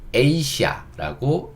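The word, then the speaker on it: Asia: 아무튼 지금 다시 강의로 돌아와서 요 단어는 에이시아라고 읽는다. 그건 아시아다. 이렇게 보시면 돼요. 그래서 아시아? 아시아? 요 A를 우리가 옛날엔 A라고 읽어서 아시아 이렇게 읽었는데 요 R을 A라고만 바꿔주면 되겠구나 이렇게 생각하시면 다음부터 이걸 읽을 때 영어 발음 그대로 에이시아 이렇게 읽을 수 있습니다.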